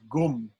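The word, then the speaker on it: anusvara: in this pronunciation guide, when an Anushwara is followed by some letters, mostly it's when it's followed by these S's, and also sometimes R, maybe H also, I'm not sure. It's pronounced as gum or gum. Purusha e veda gum sarvam. Right? If you read it, the Sanskrit, it'll be Purusha e vedam sarvam. Why does that e vedam become e veda gum?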